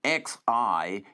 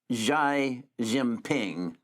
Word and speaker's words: Xi Jinping: Because there's a guy by the name of, he spells his name Xijinping, and I think it's pronounced Xi Jinping.